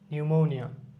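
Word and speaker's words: pneumonia: যেমন নিউম্যাটিকের ক্ষেত্রে পিটা সাইলেন্ট থাকে, নিউম্যাটিক। নিউমোনিয়া।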